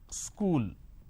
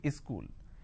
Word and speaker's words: school: word which is school there are two syllables school the school but in in places like yupi bihar jharkhand they add another syllable they pronounce this as a school wherever there is a word that starts with the sir sound they add a a in front so instead of saying school they say is cool something like this